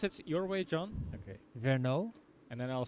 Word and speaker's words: Vergnaud: I'm pronouncing that right I don't think it's Vero I think it's vno but well we can